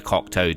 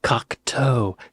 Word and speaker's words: Cocteau: Cocteau, toe, foot toe, Cocteau, body parts, Cocteau, body parts.